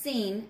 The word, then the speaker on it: Sin: of sinai now sinai has a little word s-i-n at the beginning of it and that is pronounced seen and that is the